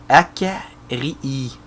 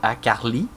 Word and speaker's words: Akarii: autres Ino, Gartrog et Akarii, et non pas Akarli, comme j'ai scrappé son nom tantôt et que Akarii était pas content du tout. Et je dois pas le prononcer encore comme du monde. Hein, que voulez-vous? Ça s'écrit A-K-R-I-I. Fait que ça doit être Akarii.